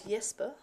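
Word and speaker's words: Jesper: um his name is yesper so it's pronounced a lot like Yensen it's the same um Scandinavian J um yeah I'll come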